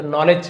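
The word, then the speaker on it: knowledge: ऑफ यानी का नॉलेज के साइलेंट है। है ना? यहां पे डी भी साइलेंस साइलेंट है। साइलेंट लेटर आप सभी को पता है जिसे हम लिखा तो होता है पढ़ते नहीं है। तो नॉलेज कहा जाता है। डी को नहीं पढ़ना है।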